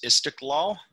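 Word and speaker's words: İstiklal: their their big boulevard i think it's uh is istick law it's kind of a hard name to pronounce i-s-p-i-k-l-a-l it's their big fancy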